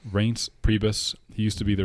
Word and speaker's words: Reince Priebus: I never know how to pronounce that name. Yes, Reince. Reince Priebus.